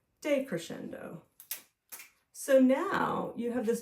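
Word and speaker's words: decrescendo: ending is softer so this one is called a day Crescendo when you see day on the beginning of something it often means the opposite of so day d e Crescendo c r e s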